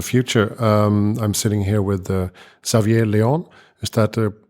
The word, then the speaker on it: Xavier: I'm sitting here with Xavier Leon. Is that the correct pronunciation? Javier.